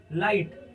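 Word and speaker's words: light: दे रहा है आपको यह जी फिर साइलेंट है यानी शांत है ठीक है तो इसे हम क्या पढ़ रहे हैं लाइट लाइट का मतलब क्या होता है रोशनी तो यहां पर लाइट क्या है लाइट का मतलब क्या है ना रोशनी तो यहां पर साइलेंट क्या है जो में हमारा शब्द है वो में शब्द है कौन सा जी और ह ये दोनों ही साइलेंट कर दिए यहां पर रेन एक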